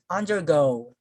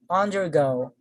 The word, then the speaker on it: undergo: pronounce this word so you will notice that i put much stress on the second component okay so once again